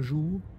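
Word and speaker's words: jouent: parlez il parle je joue tu joues il joue nous jouons vous jouez il joue attention joue joue joue et la dernière c'est jou même prononciation revoyez cette vidéo si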